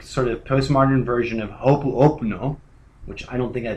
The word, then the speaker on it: Ho'oponopono: This is, of course, a sort of postmodern version of Ho'oponopono, which I don't think I pronounced correctly.